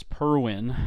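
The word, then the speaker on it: Perwin: I'm happy to introduce this purwin I believe that's how that's pronounced this this little dagger symbol is an e it's p-e-r-w-i-n is the brand um this has been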